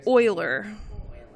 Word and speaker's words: Euler: Everyone wants to pronounce it Euler. It's Euler.